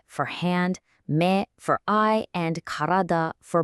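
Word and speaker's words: 目: I mean, they're literally about you.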